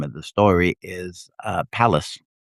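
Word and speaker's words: Pallas: And uh her lover at the time of the story is uh palace. P A I AL L A S palace as in uh uh yeah he was a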